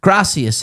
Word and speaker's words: gracias: The reason for this repeated error is that in Castellian Spanish Castellian there would indeed be a th sound wherever a c or zed are used graith.